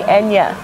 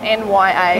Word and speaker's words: Nya: whole semester calling me Enya. Enya. Enya. Yeah. Enya. Because your name is actually spelled N-Y-A. Yeah. It's pronounced Nya. Yeah. I've heard that a lot of people call you Naira.